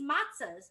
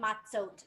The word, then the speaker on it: matzot: So I know it's not really called matzahs. It's called matzot. I feel like matzahs is fun to say, but I'll try to say it right. Matzot. Can you say matzot? That's like when there's more than one matzah.